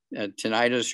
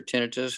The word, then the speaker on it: tinnitus: from the neck up it'll help with that tinnitus or tinnitus however you want to pronounce it you also need the collagen peptides